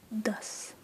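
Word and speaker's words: दस: that would be 10 which would be D which is either written as d s or d a s depending on who you ask that's sort of like dust but without um but without the uh T anyway so I'll sort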